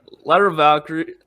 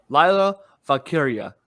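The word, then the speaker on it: Lyra Valkyria: Yeah, Ladder of Valkyrie. No, sorry, I'm gonna say it right. Because I should figure out how to say it now. Lila Valkyria versus Roxanne Perez.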